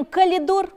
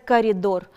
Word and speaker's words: коридор: а должны сказать электрически мы говорим calidor а должны сказать коридор мы говорим вместо 1000